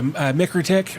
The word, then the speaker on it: MikroTik: We got a 10 gig switch, which is a MikroTik, I believe is how that's pronounced.